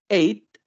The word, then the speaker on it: eight: El 8, eight. Eight. Y ojo ahí también con la pronunciación del 8, porque se tiende un poco